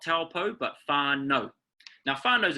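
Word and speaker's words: Taupō: A lot of times people mispronounce it and it comes out as an ow. Okay, but it's actually pronounced like the letter O. O. Okay, so we've got a, u. When you say it together, it comes out as o.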